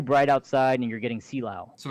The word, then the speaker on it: Silao: It's pronounced Silao. Silao.